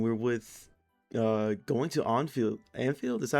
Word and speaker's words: Anfield: We're with uh going to Onfield Anfield? Is that how you say it? I don't know. Yeah, Anfield.